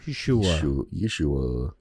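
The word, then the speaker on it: Yehoshua: Yes, it's Yeshua. It's spelled Yehosua. Yeshua.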